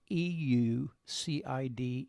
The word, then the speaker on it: Seleucid: It would be the Seleucid Empire, Empire. That's, once again, it's Seleucid Empire.